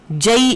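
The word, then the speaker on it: جی: जई की प्रोनाउंसिएशन है, जीम के ऊपर फतहा है और या के ऊपर शद है। जई एक छोटा सा टाउन था ईरान का।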